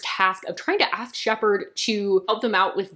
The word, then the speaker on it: Shepard: So, does anyone ever think that it's weird that we pronounce Shepard Shepard and not Shefford? It is a PH.